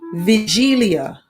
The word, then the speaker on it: Wigilia: polish wagelia wigilia which is pronounced vigilia oh because it's polish and the polls are